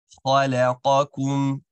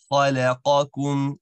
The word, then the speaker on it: خلقكم: The lam is going to be happy. The qaf is going to be awesome, just as you pronounced it. Very good. But the kaf right after, you want to ensure that it's also a happy sound.